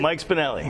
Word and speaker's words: Mike Spinelli: Mike Spinelli.